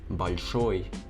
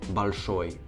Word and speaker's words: большой: For example, the word большой means big. Without the soft sign, it would be pronounced as большой. See the difference in the L.